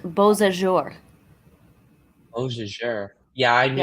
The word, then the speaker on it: Beausejour: You're about to get massive hail in Bijou? I don't know how to pronounce that. I think it's a French sounding name, which I definitely fail at. Brennan, it's pronounced Beausejour.